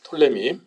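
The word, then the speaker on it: Ptolemy: 알아 두세요 남쪽의 왕조 왕조의 이름이 털림 입니다 톨레미 혹은 투 톨레미 라고 앞에 풋 짤을 붙이기도 영화의 피가 있는데요 묵음 인데 펄님 이 왕족의 얘기는 그 왕의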